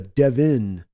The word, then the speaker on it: Devon: with the o no you pronounce the o with an an i sound it's a Devin like can we just